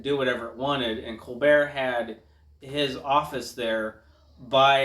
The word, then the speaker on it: Colbert: And I find it interesting that they refer to Colbert, the talk show host, as Colbert in the appropriate French pronunciation and not Colbert.